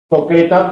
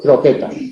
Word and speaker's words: croqueta: La P en posición implosiva al final de sílaba cambia de sílaba. Coqueta por croqueta, o Gabriel por Gabriel.